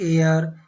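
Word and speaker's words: heir: इसी प्रकार और एग्जाम्पल देखते हैं, जैसे एन एयर, एच साइलेंट है यहाँ पे, एयर पढ़ते हैं, एन एयर, an honour, H यहाँ पे भी साइलेंट है, ऑनर, एन ऑनर हो जाएगा।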